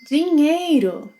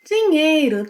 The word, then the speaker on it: Dinheiro: Then we have the NH sequence, which you already know must be pronounced as one sound, ñ, ñ, yeah?